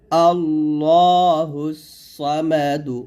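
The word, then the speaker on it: ٱللَّهُ ٱلصَّمَدُ: এরকম এসেছে আল্লাহুস সামাদ আমরা অনেকে এই সদটাকে সিন উচ্চারণ করি আল্লাহ বলে এটাকে আল্লাহুস সামাদ এরকম বলি তো এরকম বলা যাবে না দেখুন আল্লাহুস স এখানে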